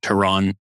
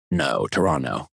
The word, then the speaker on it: Toronto: Also, fun fact, did you know Canadians do not say the second T in Toronto? So you you would pronounce it like Toronto. Toronto.